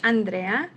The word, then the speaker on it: Andrea: I would agree um I like my name to be pronounced the way it's meant to be pronounced like in Spanish Andrea um and so often